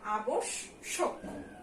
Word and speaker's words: আবশ্যক: তারপরে দেখো যেহেতু জফলা আছে তাই শয়ের ডাবল উচ্চারণ হবে আবশ্যক। ঠিক আছে, এগুলো আমাদের বারবার লিখে লিখে প্র্যাকটিস করতে হবে।